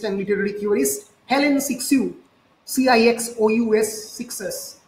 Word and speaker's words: Cixous: সো a creature feminine, the term has first been coined by the French feminist and literary theorist Helen Sixou, Cixous, Sixou অনেকে pronounce করে, in her famous 1975 essay The Laugh of Medusa.